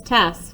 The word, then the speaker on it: Tess: you're always gonna remember how to say miss tess because you're gonna remember it rhymes with big mess so i'll show you